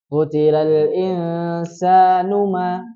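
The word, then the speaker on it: قُتِلَ الْإِنسَانُ مَا: Nunya terbaca pendek atau panjang? Pendek karena nggak ada tanda panjang huruf matnya ya, betul. Tadi terbaca panjang. Jadi yang betul utilal insanu ma. Tadi terbacanya utilal insanu ma akfarah.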